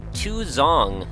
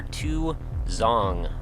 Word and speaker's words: 2X0ng: name is Nick and today we're checking out two zong yes that is how you pronounce that title if you were wondering that was actually written by the developer to zong anyway this is by David ool this is